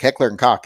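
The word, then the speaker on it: Heckler & Koch: Well, he says Heckler Koch. Heckler and Koch is how it's pronounced.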